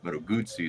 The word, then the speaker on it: Moto Guzzi: Moto Guzzi is proper pronunciation.